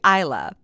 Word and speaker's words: Isla: Now, it wasn't until after this interview that Isla actually told me that how she pronounces her name is typically Isla, but she's never corrected me until after we recorded it or after the TEDx talk.